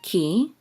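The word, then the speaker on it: כי: Okay, this is a kaf with a hirik, and the yud together will say ki, which means for, because.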